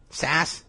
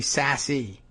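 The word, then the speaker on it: Sasse: Senator Sass, and I'm still not clear on that guy's pronunciation. Sass? It should be Sassy.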